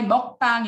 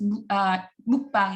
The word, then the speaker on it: mukbang: All is very close to U phonetically. So this is why mukbang in Korean becomes mukbang in English. So all people kind of, even if I say all, you hear it as U, because U is closest